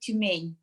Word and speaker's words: Tyumen: Siberia, because of oil and gas industry, called Tyumen. In Russian, we would pronounce it Tyumen.